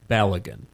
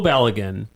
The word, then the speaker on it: Balogun: As contrast, I give you Folarin Balogun.